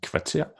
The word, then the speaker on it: kvarter: So vil or ved, hard V, and also when the V is placed after the K, as in kvarter, or after the S, as in svær, or after the H is silent, this.